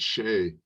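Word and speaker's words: Ṣe: All right, so the line under the SE means it's that letter followed by an H. So instead of C, it's she.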